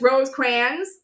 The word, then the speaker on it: Rosecrans: Rosecrans. That's actually how you pronounce his name.